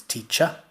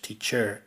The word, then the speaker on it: teacher: For example, the word teacher in British RP English, it's teacher, but in American English, teacher. And so what I'll be pointing out is that the Americans pronounce the R.